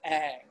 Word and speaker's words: Ingres: last name is spelled I-N-G-R-E-S. That name is pronounced Ingres, but usually in English people pronounce it Ang, like angle, but without the L at the end.